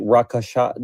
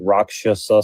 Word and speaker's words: rakshasa: And they call them like rakasha in like Sanskrit. They say it like rakshasa.